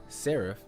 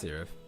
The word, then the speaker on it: serif: So, serif, I think it's pronounced.